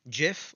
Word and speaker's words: GIF: want now we have GIF or GIF depending on your pronunciation and this file format